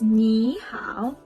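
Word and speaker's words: 你好: say your tone it's very important so it's ni how now let's pronounce it with the character niow says hello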